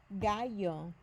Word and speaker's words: gallo: The G sounds more like an H here.